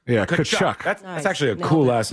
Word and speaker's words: Tkachuk: It's Tkachuk, by the way. The T is silent. Yeah, Tkachuk.